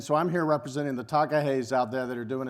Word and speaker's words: takahe: in new zealand there's a bird called a takahe i'm going to spell it for you t-a-k-a-h-e if you do want